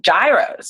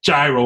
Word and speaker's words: gyro: new york experience if it's not a gyro with that hard g i know let me